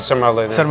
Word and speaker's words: sarmale: moment you some of my favorites are uh sal I think right is that right sal I I always forget to pronounce it properly I'll put up some